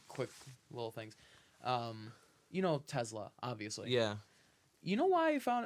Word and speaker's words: Tesla: a s make a Z sound when you say Tesla Skittles but Subway sandwich